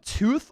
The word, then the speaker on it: Toth: Can he win that backup role and beat out Brett Toth? It's kind of tooth on the Eagles pronunciation guide, but I kind of like saying tough or tal, I think it might be.